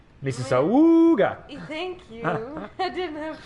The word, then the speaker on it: Mississauga: I think you'll find it's pronounced Mississauga!